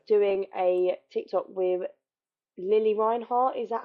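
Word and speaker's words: Lili Reinhart: my life uh doing a Tik Tok with Lily Reinhardt is that how we say her name yes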